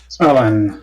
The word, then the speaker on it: Ulan: Ulan is how I pronounce it. Ulan.